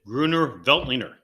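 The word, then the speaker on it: Grüner Veltliner: so the three things you got to know pronounce it gruner veltliner number two you can get it cheap point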